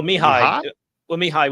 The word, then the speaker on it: Mihail: Matty Peach has said, I don't think you pronounced the L. So do you want to have a run at that? Well, Mihail would be without the L.